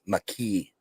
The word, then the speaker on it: Mekhi: So apparently it's pronounced McKee.